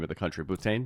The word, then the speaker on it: Bhutan: How do you pronounce the name of the country? Bhutan. Bhutan.